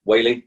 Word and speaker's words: Whealy: friend and guest phil whaley on the call welcome phil hi thank you for having me now did i say your last name right you did whaley it is good i know uh i've